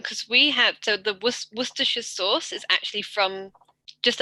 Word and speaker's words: Worcestershire: But like people will always try to pronounce it as Worcester. Yeah. And because we have, so the Worcestershire sauce is actually from just up the road from here.